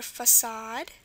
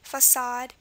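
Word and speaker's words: façade: And pretty similarly, it's spelled A-D-E. And examples I have are facade, it's a covering or something fake, facade.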